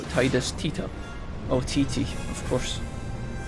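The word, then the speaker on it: Tidus: oh Titi of course I recently found out that Titus has pronounced tetus please don't start that yeah the ever uh the never ending debate of what titus's actual name pronunciation is yeah I think uh apparently in the original or in the Japanese I think they do call him tetus I know that's going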